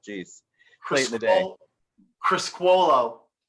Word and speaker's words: Criscuolo: Criscuolo. Criscuolo.